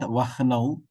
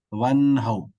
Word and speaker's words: वह्नौ: So when there is a ha and a na, ha being first letter and na being the next letter, there are two pakshas of pronunciation. The paksha that Vyoma takes is we have to pronounce the na, nakara first. One how. It is not vah now, one how. So let us pronounce one how.